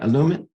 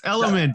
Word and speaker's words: Elumynt: Elumynt? No, but that's okay. It's Elumynt. And Elumynt. Okay. I butchered it.